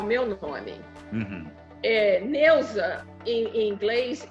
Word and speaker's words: Neusa: Então, o que eu tinha um problema de que o pessoal pronunciar o meu nome com Z, em vez de ser com S. Não, eu sou Neuza com S.